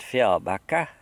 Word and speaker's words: Fjällbacka: That's how they say it, Fjällbacka.